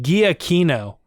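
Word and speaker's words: Giacchino: punchy and good yeah i like michael g aquino or giotina i don't know how you say his name i know it's weird i looked it up one time right we did that on the podcast it's like guiakino honestly um but uh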